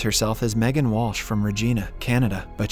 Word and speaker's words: Regina: She introduces herself as Megan Walsh from Regina, Canada, but she pronounces it to rhyme with vagina.